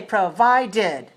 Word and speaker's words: provided: by one Sunday okay let me hear you say provided provided has three syllables and it's dressed on the second provided okay and vitamin has